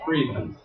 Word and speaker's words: Priebus: How do you pronounce the name? Yeah, it is Priebus.